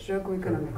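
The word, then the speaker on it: Jogo Económico: Well, anyway, I watched the episode of, correct my pronunciation, Jogo, is it Jogo Economico? Jogo, yes. Jogo Economico.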